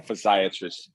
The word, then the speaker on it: physiatrist: You can pronounce it for me, Dr. Clay. Physiologist? Yes, that's correct. Physiatrist? President Scott, Yeah. Physiatrist, you got it.